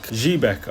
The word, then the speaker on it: Xebec: Jbeck, I think, is how the anime officially pronounces it, but Zebec is just way easier to say.